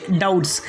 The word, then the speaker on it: doubts: इसके बाद का फोर्थ रूल है, जब बी के बाद टी आ जाता है तो बी साइलेंट हो जाता है। यानी बी के बाद अगर टी आएगा तो बी साइलेंट हो जाएगा। जैसे कि डाउट्स, DOUBTS डाउट्स, यहाँ पर बी को नहीं पढ़ना है।